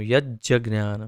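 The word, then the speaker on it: यज्ज्ञानम्: तो इसे यत् ज ज्ञानम, यज्ज ज्ञानम, तो यत् ज्ञानम ऐसे उच्चारण हो जाता है इसका, यत् ज्ञानम।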